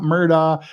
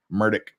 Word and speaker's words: Murdaugh: officially pronounces his name it's not murder it's not Murdoch he pronounces it murdick murdick if you listen